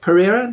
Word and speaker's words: Pereira: we are interviewing known as coach Nick Nick Pereira did I pronounce that right yeah you got it all